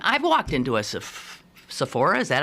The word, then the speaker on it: Sephora: know I've often I've walked into a SE Sephora is that how it's pronounced yeah I've walked in there maybe needing